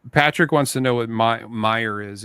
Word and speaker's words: Meijer: So Patrick wants to know what Meyer is. It's spelled Meijer, and it was a man.